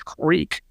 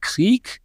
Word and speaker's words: creek: like in Texas English, creek. Then you have people who will pronounce it with a more German accent, Krieg. And then you have people who integrated more into German syllable structure like Krieke or Kriek, die Krieke.